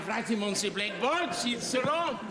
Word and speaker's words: Cicero: Cisero. Cicero. Correctly pronounced Cicero. We don't say Cicero.